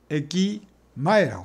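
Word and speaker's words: 駅前: 역전인데 역전을 에키마에라고 합니다. 에키젠이라고 합니다. 에키라는 요거는 훈독이 없습니다. 요거는 젠. 그 다음에 항상 문제 읽는 게 음입니다. 젠 밑에 있는 게 마에입니다.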